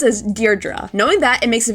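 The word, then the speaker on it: Deirdre: This name may look tricky to pronounce, but it's pronounced as deerra.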